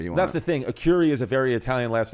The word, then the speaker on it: Arcuri: Not Jeff Arcuri. Oh, nice. Do people say it wrong? All the time. What do you get? I get a curry. Yeah? I've gotten some weird ones, like a kunti.